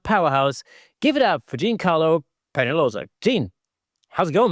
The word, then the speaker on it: Jean Carlo: So, my name is Jean Carlo. Oh, right. Okay. Jean Carlo. Cool. It's a French pronunciation.